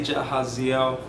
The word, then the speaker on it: Jahaziel: Jahaziel. It's three syllables. You could technically say Jahaziel, but Jahaziel. Jahaziel. So just like how it's spelled, Jahaziel, like not Jahaziel.